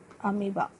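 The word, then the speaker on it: amoebae: Okay, इन्हें बोला जाता है डॉटर अमीबा. उसका प्रोनाउंसिएशन प्लूरल करोगे तो वो बनता है अमीबी, डॉटर्स बने, दो बने.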